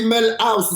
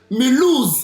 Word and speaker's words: Mulhouse: J'ai dit Melhouse, c'est Mulhouse en France.